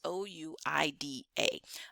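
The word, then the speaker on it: Ouidah: All right, so however you spell it, but it's Ouida.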